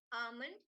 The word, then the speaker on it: almond: of that l is silent so we're gonna pronouncing it as almond all right so first is breakfast second is